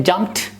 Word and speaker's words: jumped: When I say jumped, j, m, p, and ta, the e is just a letter. It's not being pronounced while pronouncing the word.